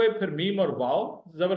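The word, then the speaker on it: مامي: MAAMI, मामी या मुमानी, maternal aunty, मामी। मामो हो गया आपका मैटरनल अंकल, और उनकी बेगम साहबा आपकी हुई मुमानी या आपकी हुई मामी। मीम अलिफ जबर, मीम ये जेर, मामी, मामो, मामी, ठीक है।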